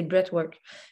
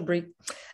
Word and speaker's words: breathwork: Puis en quoi le breathwork peut être vraiment moi, je ne le prononce jamais de la bonne façon, je vous le dis tout de suite, là, c'est breathwork. Mais je le dis toujours breathe.